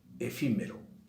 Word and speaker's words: efímero: Por ejemplo, la palabra efímero. Efímero lleva el acento, si yo lo escucho, lleva el acento en la sílaba antepenúltima.